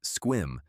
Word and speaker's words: Sequim: Clallam County, Sequim, pronounced Squim, because the Pacific Northwest reserves the right to do what it wants with vowels, sits in something meteorologists call a rain shadow.